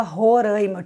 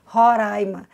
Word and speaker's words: Roraima: havia me dado conta que eu falava roraima tive que treinar no espelho para conseguir dizer ora a irmã que a pronúncia correta e desse estado nokia